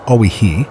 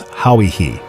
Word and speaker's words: Hawaii: The New Zealanders say their ancestors came from an island called Hawaii, or Oihi, as we have carelessly pronounced it. It is pronounced by its inhabitants as Hauihi.